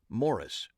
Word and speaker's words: Morris: because he insisted that his first name be pronounced using the british pronunciation morris it seemed unlikely that